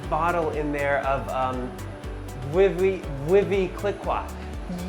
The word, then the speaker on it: Veuve Clicquot: - Whoa, and there's a massive bottle in there of Vee-vee, Vee-vee Click-Kwa. - Yes, sometimes people pronounce it Veuve Clicquot, but, you know, we make it our own.